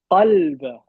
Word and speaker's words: قلب: How do you say heart in Arabic? Qalb. Right? It's a qaf.